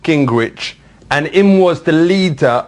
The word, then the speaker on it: Gingrich: And then Gingrich. For real, how does this spell that?